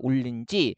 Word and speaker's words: 올는지: 그래서 비가 리을 는 지 해서 비가 올는지 습한 발음이 불기 시작했다. 얘가 헷갈릴 수밖에 없는 게 리을 다음에 니은 오면 우리가 자음 동화 중에 유마 일어나가지고요. 발음을 이렇게 하게 되거든요.